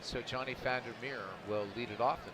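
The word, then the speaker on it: Vander Meer: and yes I said founder mirror because of me and Dutch is pronounced like an F it's a Founder bear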